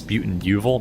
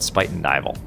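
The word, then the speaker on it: Spuyten Duyvil: It looks like it says Spuyten-Duyvil, but I think it's called Spuyten-Duyvil. Anyway, it's Dutch.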